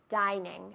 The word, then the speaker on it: dining: Dining room. Dining no. Dining no. Dining. Es una I fuerte.